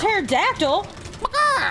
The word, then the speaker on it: pterodactyl: coming off there's a pterodactyl hey hey why can't you hear terod going to the bathroom yeah why because the pee is silent my God you guys